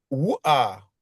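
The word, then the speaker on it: רוח: Tous les mots qui finissent par ret, voilà, la voyelle se prononce avant. Là, c'est ouar, hein, tu vois, c'est esprit.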